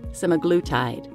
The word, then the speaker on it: semaglutide: up some videos in every other video is pronouncing it semaglutide and even the dictionary so please ignore my